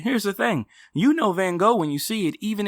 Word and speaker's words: Van Gogh: And so that's why I don't pronounce it Van Gogh or Van Gogh. yeah, because that's the closest to the Dutch pronunciation actually.